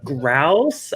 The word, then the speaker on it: Grouse: blended scotches, like famous Grouse. I'm pronouncing it right? Grouse. Yeah. Okay.